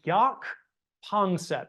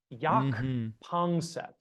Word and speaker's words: Jaak Panksepp: It's Jaak Panksepp. It is an Estonian name. That's let's see. Jaak is spelled Jaak. Love and then that. his last name, Jaak. And then Panksepp is Panksepp. Jaak Panksepp.